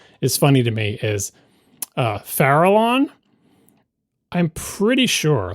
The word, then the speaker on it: Farallon: Only when my child's brain saw that word and just scanned it, it pronounced it internally as, let's see, Falron, which is not how you pronounce it. It's Farallon.